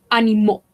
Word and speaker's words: animaux: Animales, animaux. Esto se pronuncia como una O.